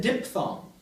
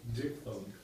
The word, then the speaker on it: diphthong: mini spiel about I and ow, how I pronounce this word? You noticed. I said diphthong. Of course, what should I have said, being a good, Greek? Diphthong. Diphthong.